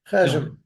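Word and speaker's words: חשבון: Chesem. Okay. Yeah. Yeah, that's right. Cheshbon is in Hebrew, but in Yiddish you say it like your Chesem, family yeah.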